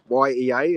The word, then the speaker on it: Yea: YEA is, but you pronounce it Yea.